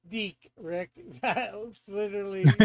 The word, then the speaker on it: DIC: Uh, and Metal says it's pronounced Deak, Rick, that literally said said at the end of every show.